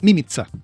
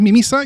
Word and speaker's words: Mimica: Se pronuncia mimiza, se pronuncia, en verdad se pronuncia mimza. Mim, mimiza, pero pero la chilenización es mimiza y se escribe mímica. Entonces es todo complicado. Igual se puede decir mímica y no pasa nada, ¿verdad?